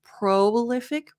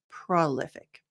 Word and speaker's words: prolific: So I looked up some examples, and in my opinion, the way that I say it and that I think sounds the most natural, instead of prolific, prolific. Both are correct.